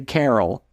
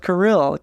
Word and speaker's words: Kirill: When I was growing up, everyone would say Carol. Oh. Alex Carroll. And it's like, no, it's Kirill.